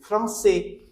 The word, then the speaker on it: français: Lent if you write this word f r a n c with sedilla a i s so its pronunciation will be France which means French if